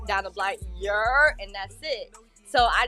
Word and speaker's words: Yurr: So your can be spelled either YERR, but majority of New Yorkers spell it YURR. And it's how we say hello. We just like your down the block, your, and that's it.